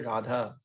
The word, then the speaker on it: radha: drop the a so feminine words you don't drop the a radha long a at the end even if you're speaking a modern a newer language anybody in india nobody says rad they always say radha for example i like